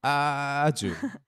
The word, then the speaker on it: 아주: 아주. 아주 맛있어요. You have to pronounce that really long there.